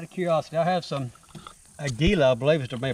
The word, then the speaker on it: Aguila: All right, let's try, out of curiosity, I have some Aguila, I believe is the way to pronounce this stuff.